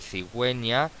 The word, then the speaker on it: cigüeña: Bien, cuando utilizamos la GU delante de la I y de la E, pero queremos pronunciar la U, tenemos que colocar lo que se llama diéresis, es decir, dos puntitos encima de la U para pronunciar esa U, como es el caso de cigüeña, como es el caso de pingüino.